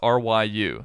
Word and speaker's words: Ryu: says sha ruken uh the middle part of that is R Yu so it's basically Ru uh or or Ryu yeah in some in